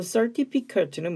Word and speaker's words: certificate: 그럼 certificate는 뭐냐? 이거 certificate이라고 읽어야 돼요. 발음기요. certificate.